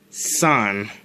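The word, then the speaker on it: 三: how 3 is pronounced 3 is pronounced son so if we were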